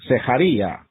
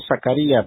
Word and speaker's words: Zecharía: Encontramos en esta declaración del profeta en los primeros versículos de la profecía de Zecharía, que así se pronuncia, en la Reina Valera parece como Zacarías, pero se pronuncia Zecharía.